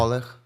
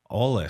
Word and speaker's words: Oleh: Ole. O E H. Ole. So, it's like a Yeah, like a scratchy.